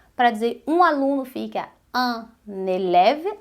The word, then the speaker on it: un élève: dizer um aluno fica un élève, aí a gente une aí na pronúncia, un élève, uma aluna é une élève, une élève, un élève, une élève, un élève, une élève.